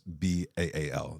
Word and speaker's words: Baal: Jezebel, again, has, even though it's spelled B-E-L, is B-A-A-L. This is the god Baal.